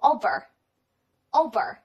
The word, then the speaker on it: over: 好了，下面请看第二个词，读作 over，这个 ver 是需要上牙齿咬住下嘴唇来读的。Over，它可以表示跨越或者是上方。